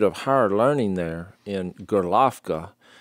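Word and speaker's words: Gorlovka: higher learning there in golovka that's the russian pronunciation of it it's it's spelled like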